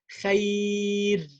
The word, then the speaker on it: خير: So the rule says when the ra with the state of sukoon and it has a ya before, it's preceded by a ya before, a soft ya, harf al-lin, I pronounce the ra lightly and I say خير لا ضير.